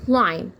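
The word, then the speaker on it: climb: الام اذا جاي بعد منه بقيله لا طبعا بنطقه زي كلمه جامب جامب لكن دي كلايم كلايم كلايم كلايم بمعنى يتسلق الشجره اتكلم مثلا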